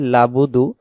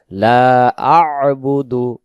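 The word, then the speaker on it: لَا أَعْبُدُ: আবুদু লাবুদু অনেকে বলি লাবুদু তখন হবে লাম জবর লা বা পেশ বু দাল পেশ দু লাবুদু তখন এই আইন অক্ষরটা এখানে ছুটে চলে যাবে এখানে উচ্চারণ হবে লা আবুদু লা আবুদু লা আবুদু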